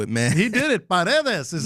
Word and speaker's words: Paredes: Paredes is how you say it.